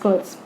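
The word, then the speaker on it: Schultze: It means when you pronounce this word, the word skull comes into your head, but actually it's Schultz.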